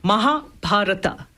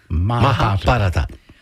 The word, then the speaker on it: Mahabharata: And pronounce that again for us one more time. Mahabharata. Mahabharata.